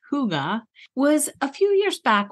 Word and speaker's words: hygge: alone the first time I heard the word Huga which is spelled h y g g and pronounced Huga was a few years back when our daughter